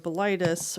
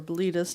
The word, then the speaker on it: Bilitis: or the Daughters of Bilitis, or Bilitis, depending on how you pronounce it, beefcake visual culture reached